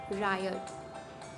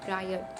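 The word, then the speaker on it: riot: अब वर्ड है रायट। इसकी करेक्ट प्रोनाउंसिएशन है रायट, तो इसको रियॉट ना कहे।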